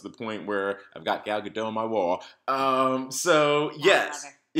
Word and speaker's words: Gal Gadot: Yeah, I imagine to your point, it's very similar to when Gal Gadot. 2 years later, we still don't know how to pronounce this. I do. It's Gal Gadot.